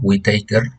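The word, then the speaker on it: Whittaker: 1969 el biólogo estadounidense robert whitaker así se pronuncia esto whitacre propuso cinco reinos para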